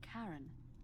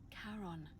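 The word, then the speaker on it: Charon: it's just as you described it only your pronunciation is a little off the name you heard wasn't Karen it was c h a r o n as in karon the Fairman of the Dead Oh Kon who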